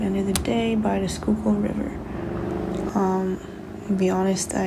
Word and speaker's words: Schuylkill: I just went to a nearby park and ended the day by the Schuylkill River. To be honest, I had no idea how to pronounce the river's name for the longest time, and now I do.